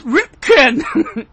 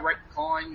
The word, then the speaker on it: Ripken: AAA of Britain there and he gets his name wrong, which is funny. He's like, no, it's Ripken. Yeah, that was another Mr. Ripcoin.